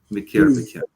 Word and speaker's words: מקרבכם: Sorry, I pronounced that wrong. Mikirvichem, right?